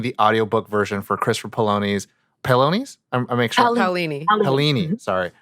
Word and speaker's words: Paolini: You're going to be narrating the audiobook version for Christopher Paolini's. I make sure. Paolini. Sorry. Make sure I pronounce it right.